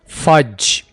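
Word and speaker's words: fudge: हम फज कहते हैं यहां पर डी साइलेंट होगा फज फज अचार को इंग्लिश में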